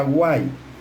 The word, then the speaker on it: White: Se escribe Guite, se pronuncia Guay.